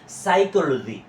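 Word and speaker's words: psychology: এখানে পি উজ্য থাকবে পি মানে আমাদের উচ্চারণে আসবে না পি এস ওয়াই সাই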